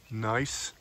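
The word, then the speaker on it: gneiss: banded Rock um actually looks like nice that's spelled GN I SS not n i e beautiful Rock another one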